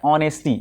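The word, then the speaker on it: honesty: ऑनेस्टी अब यहां पे देखो एच है ध्यान देना बात को यहां पे एच है लेकिन इसका प्रोनाउंस क्या होता है ऑनेस्टी यहां पे क्या है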